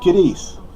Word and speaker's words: Cadiz: My hometown, Cadiz. It's spelled C-A-D-I-Z, but we pronounce the Z as an S.